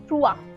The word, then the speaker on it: trois: Okay, so whenever you see O and E together, you pronounce it as wa, right? So it's moi. Moi, which is me. Trois.